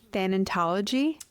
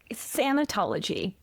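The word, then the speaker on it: thanatology: Well, you mentioned what your focus is in the graduate program and am I saying it correctly? Thentology. Santology.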